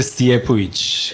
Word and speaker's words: Stijepovic: Stijepovic. That is cool. I was wondering how you pronounce it.